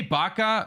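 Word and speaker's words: Bach: Legacy of Destruction dude I say Baka because I'm like I'm like in this in this English pronunciation where you would pronounce CH as a k basically um but obviously the the the M the musician would was named Bak but yeah uh anyways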